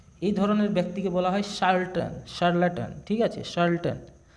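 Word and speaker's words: charlatan: ধরনের ব্যক্তিকে বলা হয় শার্ল্টন শার্টন ঠিক আছে শার্ল্টন তো অপশন সি হবে চার্ল উচ্চারণ হবে না এটা শার্ল হবে শার্ল্টন উচ্চারণটা হবে শার্ল্টন চার্ল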